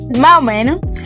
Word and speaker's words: más o menos: Dominicans delete letters like it's not. estoy cansado, toy cansado más o menos ma o meno para allá, pa allá Also, pay attention to tone and the speed.